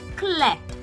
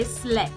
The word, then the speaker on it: clé: Because we have words like clé, C-L-E, clé, which means key. Now, you don't say slé, but you pronounce C as S whenever you see the accent cédille.